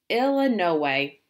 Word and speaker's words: Illinois: we go chapter seven illa no way well lookie here gramp shouted the illinois state line he pronounced illinois ill and no way exactly the way everyone in